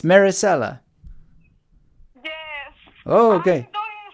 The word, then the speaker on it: Maricela: is Maricela. Maricela. Oh, is that how you pronounce it right? I'm always saying Maricela. It's Maricela.